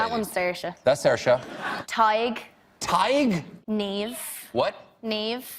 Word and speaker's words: Saoirse: That's Saoirse.